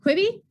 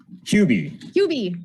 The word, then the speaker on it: Qbi: So we got, is it Quibi? QB. Okay.